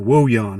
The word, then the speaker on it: Wojahn: He introduced this Patrick Wojahn, or Woyan, I think is how you pronounce his name. That's how I heard them pronounce it, even though it's spelled with a J.